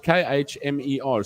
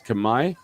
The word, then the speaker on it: Khmer: kumai is the language it's spelled k-h-m-e-r so at first we were talking about khmer all the time khmer kumar kumar um but uh it's kamai uh and uh the